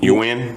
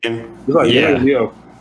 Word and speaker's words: Nguyen: Nguyen. You win? Like win? Yeah.